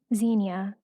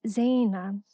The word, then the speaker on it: Zeina: It's not Xenia, which stands for adulteress, pronounced as Zaina, which means adornment.